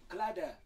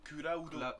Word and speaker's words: Cloud: Clad. Donc, non, parce que dans le film Advent Children, il dit bien Kulaudo.